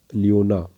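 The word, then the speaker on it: Cliona: ल्यूकोसिलोनिया को हम smallest sponge के नाम से जानते हैं, और लियोना, सी इसमें साइलेंट है, लियोना को हम बोरिंग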